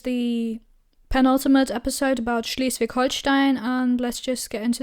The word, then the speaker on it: Holstein: So, first of of course some general facts as always Holstein of course not Holstein that is the English pronunciation is very much located in the north.